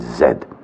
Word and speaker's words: zed: the state of Massachusetts then you would pronounce the last letter of the alphabet Z but no you pronounce it zed.